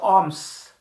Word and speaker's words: alms: of a village for alms. Alms means any charity, whether it is in the form of clothes, food, or money. ALMS spelling. L is silent letter.